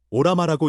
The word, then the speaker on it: Ollama: 알러머 오라마라고 읽습니다.